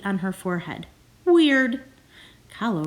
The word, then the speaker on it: Kahlo: on her forehead weird hallo rhymes with follow this is me dressed